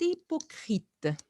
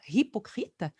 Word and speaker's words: hypocrite: anglais alors marguerite est hypocrite I et attention on prononce pas le h on dit pas pas hypocrite on commence le I